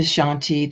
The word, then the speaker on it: Shanti: understand what it meant the pronunciation of The Shanti that we're speaking of the piece that we're going to Define is Shan T when we break it